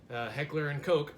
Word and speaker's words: Heckler & Koch: to genuine HK mp5 heckler and koch and yes that is how they say it you can go on their website and see it's pronounced coke yeah I'm gonna get